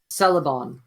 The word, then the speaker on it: Selebon: It's spelled weird, so I'm going to spell it for you. ACKYN. Wait, fuck! I don't. Akin. ACKYN. Yep. Celebon.